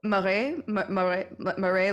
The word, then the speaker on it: Marais: Marais, like swamp, M-A-R-A.